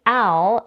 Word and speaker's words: Al: the vowel the manale's name Al is pronounced with the same vowel that we have in the words cat and apple to pronounce it we